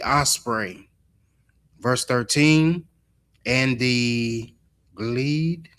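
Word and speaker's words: glede: And the gleed. Gleed. I think that's how you say it.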